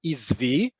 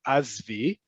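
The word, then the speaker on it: עִזְבִי: The singular feminine, according to Hebrew grammar, is izvi. But as I put in here in parentheses, you're going to likely more likely here azvi. And plural, regardless of gender, is izvu. Again, you're going to hear azvu.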